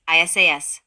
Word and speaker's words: Isis: is the Divine mother this mantram is pronounced by prolonging the sound of each of the four letters that constituted Isis divided into two syllables isas with this exercise one